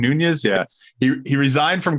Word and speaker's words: Nunes: say about it uh Devin Nunes is that how you say his name nunas yeah he he resigned